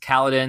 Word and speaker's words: Kaladin: It's just Kaladin. That's spelled like Paladin.